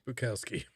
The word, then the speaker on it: Bukowski: Bukowski. Spelled like it sounds. B-U-K. Yeah. There we go. That's him. It's Bukowski.